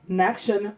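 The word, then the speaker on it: Nachshon: today we read of the gift bought by Nakshan bin Amadav. I'mma spell that for you.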